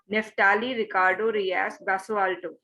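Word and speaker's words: Neftalí Ricardo Reyes Basoalto: Ma'am, can you please pronunciate his name once again, ma'am? Neftali Ricardo Rias Basualto.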